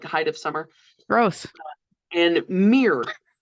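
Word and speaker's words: Miir: of Summer gross and Mir believe I'm pronouncing that correctly m i i r yep mirr yeah I love everything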